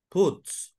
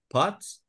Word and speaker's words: pots: I would say that when you were talking about the kitchen, you say puts. Are you talking about the pots, las ollas? Pots? Pots. That's the pronunciation.